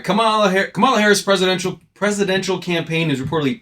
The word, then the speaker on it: Kamala: How do you spell it? How do you say it? Kamala? It's Kamala.